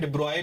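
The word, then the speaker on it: de Broglie: डिब्रोगली जिसको हम लोग प्रोनंसिएट भी करते हैं। डिब्रॉय भी उनका प्रोनाउंसिएशन होता है।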